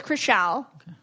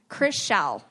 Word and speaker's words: Krishal: scott yeah so it's krishal yeah she's very sweet chris shell it's like seashell but chris that's right okay that's